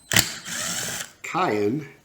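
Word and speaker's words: Keihin: the japanese motorcycle industry cayenne i believe is the correct way to pronounce it and cayenne maybe i'm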